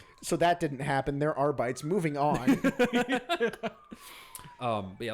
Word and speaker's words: Arbites: were just like, yeah, this is how they're pronounced. And we're like, Oh, yeah. We're like, The no, it's not. Arbites. Oh, yeah. Yeah, they're like, yes, the Adeptus are beaties.